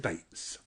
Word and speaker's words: Beetz: ran with it and the surname is beats but with an american accent on it so the double e kind of ends up sounding a bit a baits bakes dates